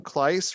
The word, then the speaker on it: Klice: uh the teacher was arden klice rhymes with nice spinach in your boss's